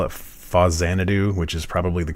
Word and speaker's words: Faxanadu: well people call it fuzzanadu which is probably the correct pronunciation since it's supposed to mean famicom Xanadu so far Xanadu is